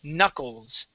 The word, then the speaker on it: knuckles: K is going to be silent we would not say can Knuckles we say Knuckles all right now you